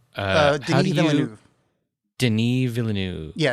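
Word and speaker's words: Villeneuve: Vu Deni villanu yeah it's frankophone you don't you don't have that final V in there villain it is but I'm not good enough at pronouncing French to do it it's villain like there's a vill there's a light kind of lip vibr that's sort of a V at the end but I'm not good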